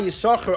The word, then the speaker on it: Yissachar: You know why Yissachar only has one? When you pronounce it, you only pronounce one shin because one of them he gave away.